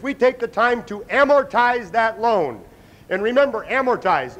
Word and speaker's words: amortize: by far the most mispronounced the second most mispronounced is amortized it's not a motorize or am morz it's amorti anybody speaks Spanish in here what's it mean